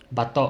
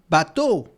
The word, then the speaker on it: bato: Bateau in French, it's a boat. But it's not, it's Bateau, but the way that you just pronounce it in Tagalog, bateau, it's pronounced like a boat in French.